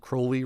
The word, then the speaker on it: Crowley: apparently he pronounced it Crowley rhymes with holy and uh I did